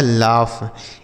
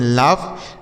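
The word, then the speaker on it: laugh: कृपया अगला शब्द है एल ए यू जी एच इसे पढ़ा पढ़ा जाता है लाफ। एल ए यू जी एच इसे पढ़ते हैं लाफ।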